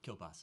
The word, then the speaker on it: Kielbasa: last name thank you kielbasa is how it's pronounced but thanks Oh literally